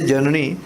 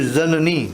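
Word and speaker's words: ज़नानी: That actually when we say janani, but the pronunciation should be zanani, zan, yeah, zanani, because it's a Persian word which means janam din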